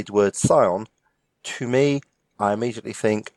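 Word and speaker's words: scion: we have here is not score on but Sion s cion exactly what does that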